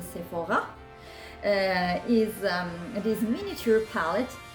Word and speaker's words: Sephora: little palette from sephora you have to pronunciate it in french is a sephora is um this miniature